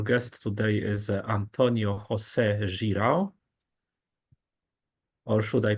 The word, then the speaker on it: Girão: seminar uh Our Guest today is Antonio Jose Jiro or should I pronounce it differently no that's fine that's fine